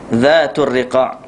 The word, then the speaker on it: Zatul Riqa: Zatul Riqa, baca tulis zat huruf zal, DH tu maksud zal. Zatul Riqa, cara baca dia.